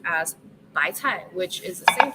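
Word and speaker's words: 白菜: So bok choy is pronounced as bai cai, which is the same pronunciation as 100 fortune.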